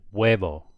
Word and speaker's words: huevo: So, for example, the written word here, meaning egg, H-U-E-V-O, it just sounds like huevo. It's totally silent. Or helado.